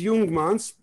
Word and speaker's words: Jungmanns: Okay, so my name is Jungmanns, and Jung is spelled with a J, like Carl Jung, the great psychiatrist. Jung means young man in German, and it's spelled J-U-N-G-M-A-N-N. That's how it's pronounced in Germany and in Israel, we kept the same. When I came to the United States, they saw Jungman, and everybody called me Jungman and young woman and